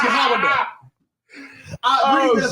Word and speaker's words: Yehuda: I agreed that it's pronounced Yehuda.